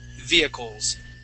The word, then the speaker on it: vehicles: Okay, so it's via at the very beginning, via, and then coles, like that. Vehicles. Vehicles. Good. Yeah, so we do not pronounce that H.